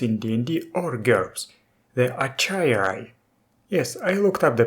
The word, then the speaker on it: achaierai: never actually used in DND or girls the acharya yes I looked up the pronunciation I used to pronounce it as a kairai before C is sentient goofy looking four-legged Birds